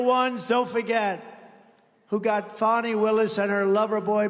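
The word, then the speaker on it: Fani: been destroyed because of fonnie f a n i fny you have to pronounce it fonnie it's called Fanny you have to pronounce fny I don't know how she go she should add a little u in there someplace if she wants people to call her now her and her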